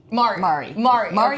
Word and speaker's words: Mari: And so Mari okay. rhymes with sorry.